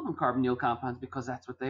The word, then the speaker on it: carbonyl: I know it looks like hormonal but its carbonyl that's just how it's pronounced carbonyl compounds have a co group that